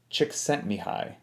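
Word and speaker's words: Csikszentmihalyi: i hope that i get his last name correct this hungarian psychologist chick sent me high i believe is how you say it so anyway he basically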